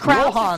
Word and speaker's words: Johann: Johann, you said it right.